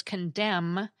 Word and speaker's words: condemn: Latin provides a few of these, now you hear them, now you don't, ends too, in words such as condemn and condemnation. In the original Latin and Greek, these words had suffixes followed by those consonant clusters, but those suffixes got deleted when these words entered English, leaving a phonotactically unacceptable cluster at the ends of the words, thus giving us the silent N at the end.